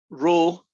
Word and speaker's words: rho: of a function called rho of x y rho pronounced it like the word rho r h o